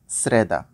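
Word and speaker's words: среда: তারপর শ্রেদা যার বাংলা বুধবার।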